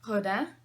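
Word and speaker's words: Graudin: city by Ryan Grodin I want to say like a French person because I think it's supposed to be pronounced hoda but like no one would recognize that Ryan Grodin live the French is so much prettier hook line is run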